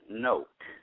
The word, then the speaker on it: Knoch: no um but close actually pronounce note if you spelled it n o k e coke with an N I will put that